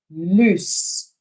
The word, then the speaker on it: loose: one is pronounced lose the second one is pronounced loose one more time loose loose loose loose so